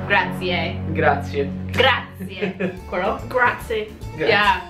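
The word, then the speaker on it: grazie: oh see okay so there is a restaurant in Toronto called grazi but really grati gra gra quel gra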